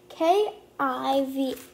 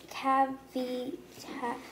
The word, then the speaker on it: Kavi: K-A-V-I. It's like, I think, Kavi.